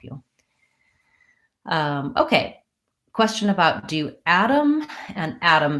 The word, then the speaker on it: Adam: asking about the name Adam and the particle the Adam so in American English yes we use a flap on both of these so a flap T sounds basically like a light D I'm not saying add